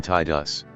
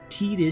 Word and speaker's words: Tidus: it right wrong i'm still gonna call him tied us it's what i called him that sounds better apparently the name being fully voiced didn't matter and people were doubling down on titus because tdis sounds stupid apparently waka doesn't sound stupid seymour